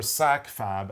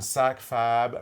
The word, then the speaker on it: SAKFAB: It's from Sit in It for a Bit, or SAKFAB, as we like to abbreviate it, SAKFAB. And SAKFAB rhymes with AbFab, which is my favorite British show.